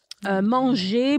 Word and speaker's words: manger: Manger, boulanger, papier. The R at the end is silent. The E-R is silent.